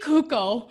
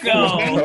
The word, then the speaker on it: Cuoco: Tony's a huge Young Sheldon fan, so Look, Kaylee Kuko. Nobody knew. who she- Cuoco? What? How do you say it? Like, Cuoco.